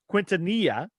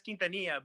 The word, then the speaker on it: Quintanilla: Well, you're supposed to pronounce it, I guess, Quintanilla, but to me, it's just as silly to do that.